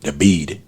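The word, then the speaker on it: David: D A V I D. Debid is just how they announce it or pronounce it.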